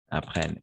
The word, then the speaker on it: apprennent: Apprennent. ENT à la fin, on ne prononce jamais.